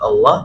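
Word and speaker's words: الله: Jadi pengucapan lafaz Allah itu adalah pertama, kalau yang masih pengucapannya Allah, ini kan berarti kan kita mendahulu pertama huruf yang kita ucapkan A, jelas ya, A. Kalau kita pengucapannya Allah, berarti yang kita ucapkan berikutnya adalah huruf waw, gitu ya. Baru lam, Allah, gitu ya, Allah. Nah, tapi yang betul adalah kita dari A langsung ke lam, al, nggak ada wawnya,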